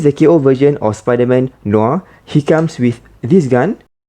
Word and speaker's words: Noir: a quick check with google it is apparently pronounced as noir here's the ko version of spider-man noah he comes with this gun and also a